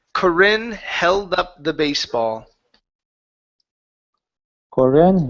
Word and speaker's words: Corinne: okay good good and this name here is Corinne it's a first name of a woman okay it's corinne try that one okay there you go much better okay watch the tongue so we're gonna say Corinne held up the baseball Corran held up the